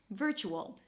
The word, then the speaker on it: virtual: So although there is a T here it's pronounced as vr - chu as a chu.